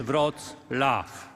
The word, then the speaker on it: Wrocław: applause please please remember the proper pronunciation of the city name is rod laughs thank you very much